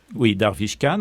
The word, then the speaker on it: Darvish Khan: Darvish Khan, on peut prononcer, c'est la prononciation en persan, Darvish Khan.